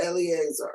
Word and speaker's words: Eleazar: Eleazar.